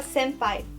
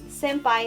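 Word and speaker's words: 先輩: Senpai, o que significa senpai? Senpai não é uma pessoa sem pai, tá? Não é senpai. É senpai, é tudo junto, que é com N, senpai.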